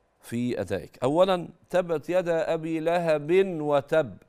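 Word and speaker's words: أبي لهب: يد ابي لهب وتب لا كده خطا ابي لهب النون التي في التنوين لا تنطق اذا جاءت بعدها الواو ابي لهب ابي لهب هكذا هذا اولا يبقى ما بطاش التنوين لو كان بعده الواو على طول في الواو له بو هكذا طيب بعد كده انت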